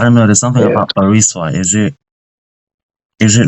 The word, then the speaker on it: Barisua: My name is pronounced Barisua. Barisua.